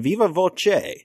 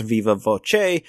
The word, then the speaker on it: viva voce: you used the expression viva voce. It's actually a Latin phrase pronounced viva voce, meaning by voice. And, you know, when I said it, I said viva voce.